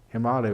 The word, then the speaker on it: Himalaya: an earlier in other word him alia Himalaya Himalaya Sapna correct panache a pronunciation that is a place where the snow